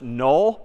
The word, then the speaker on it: NULL: couple weeks we're going to see another word pronounced null but spelled n l left hand wasn't talking